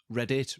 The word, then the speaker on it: Reddit: Reddit, really, if you want to pronounce it correctly.